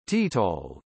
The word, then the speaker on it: Total: Total SA, French pronunciation, Total, English, or, is a French multinational integrated oil and gas company and one of the seven supermajor oil companies in the world.